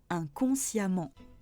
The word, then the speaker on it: inconsciemment: Et enfin, dernier cas de figure, le E se prononce A quand il est suivi de deux M, comme dans inconsciemment. Futur et conditionnel.